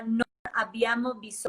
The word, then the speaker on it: Non abbiamo bisogno: Hay una encíclica muy, muy interesante que se llama Non abbiamo bisogno, pronunciación, con doble B, non abbiamo, significa no tenemos necesidad.